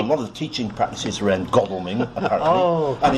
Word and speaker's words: Godalming: Now, I know it's pronounced Godalming because the wife told me, because she was stationed there during the war.